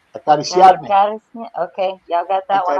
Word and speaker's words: Acariciarme: Can you pronounce that? Where? Acariarme. Acariciarme.